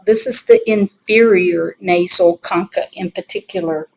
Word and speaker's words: concha: is the inferior nasal concha in particular right here and that bone sort of curls up like this the concha the ch in that word is pronounced like k now in the lateral